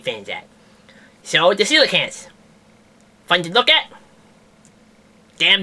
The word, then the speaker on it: coelacanth: It's called a coelacanth.